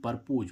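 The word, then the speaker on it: propose: ऐसे ही इसमें हम देखें पी आर ओ पी ओ एस ई परपोज। परपोज मीन्स होता है प्रस्तुत करना। अब देखो यहां पर भी एस का उच्चारण क्या निकला? ज अब देखो गाइस इसमें डब्ल्यू ए एस वाज वाज मींस था।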